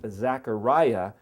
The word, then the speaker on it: Zechariah: The word Zechariah, it's actually in English pronounced Zachariah, but the word Zechar means to remember.